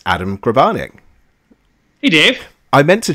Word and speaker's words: Grabarnick: joining us in the Omniverse today it's Adam grabanic hey Dave I meant to check with you if I was pronouncing your name right you totally did as